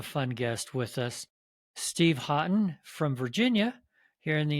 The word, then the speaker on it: Haughton: guest with us, Steve Haughton from Virginia, here in the United States. How are you, Steven? I'm doing good. How about yourself, Eric? Good. Did I get Haughton correct? That is the correct pronunciation.